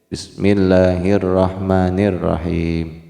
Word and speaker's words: Bismillahirrahmanirrahim: Bismillahirrahmanirrahim. Ya. Karena memang kita membacanya harus sesuai dengan makharijul huruf.